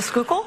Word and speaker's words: Schuylkill: What is the Schuylkill?